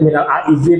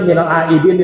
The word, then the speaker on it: minal aidin: Ada yang disebut minal aizin pakai zal, ya. Harusnya minal aidin itu pakai dal. wal faizinnya pakai zai, ya.